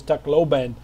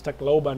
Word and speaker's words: Tacloban: It's the proper pronunciation is Tacloban.